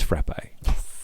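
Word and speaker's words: frappé: It's frappe with the ill because Casey did say the accent is on the e, not on the a.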